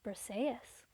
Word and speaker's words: Briseis: Like, we did a book club for Song of Achilles, and like everyone was like, how do you pronounce this? And I'm like, it's Briseis.